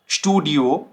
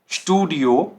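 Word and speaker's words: Studio: अब ये कैसे साउंड करेगा, देखिए स्पोर्ट, स्पोर्ट, स्टूडियो, स्टूडियो, स्पास, स्पास। तो देखिए ये श साउंड कर रहा है, ठीक है। चाहे इसके आगे पे हो या टे हो, ये साउंड करेगा श, ठीक है।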